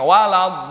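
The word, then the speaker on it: وَلَا الضَّالِّينَ: Di situ ada tasdid. Waladhdallin. Kalau orang bilang, orang dulu waktu saya masih ngaji tuh dulu tuh di ngaji Quran digentak dikit, jangan di ayun begitu doang bacanya. Waladhdallin, ada gentakan. Kenapa? Karena tasdid itu menduduki 2 huruf.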